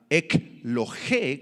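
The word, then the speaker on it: ἐκλογή: interesante en el griego la palabra ec lo G con acento en la e y k l G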